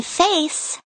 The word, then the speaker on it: face: If a word has a c followed by a silent e, you pronounce the c with the s sound. The c in face sounds like s.